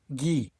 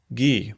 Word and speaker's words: ghee: Gee. Gee. Probably just G. It's pronounced G like the letter G.